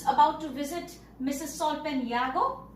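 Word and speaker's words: Jago: Solpen Yago, pronounced as Yago, and he's out on a beneficial trip with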